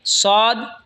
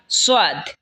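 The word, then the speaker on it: ص: সদ জিহ্বার আগা সামনের নিচের দুই দাঁতের আগার দিকে লাগা উচ্চারণ হবে সদ অথবা সোয়াদ, দুটোটাই বলতে পারেন।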